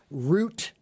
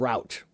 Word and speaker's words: route: So that word has two pronunciations that are both acceptable. Root and route, right? And I'm telling you that I have heard both throughout my entire life.